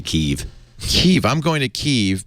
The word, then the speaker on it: Kiev: Kiev, by the way, actually pronounced Kev. Really? Yeah. Not Kiev. No, it's American school children pronunciation. It's actually Kev.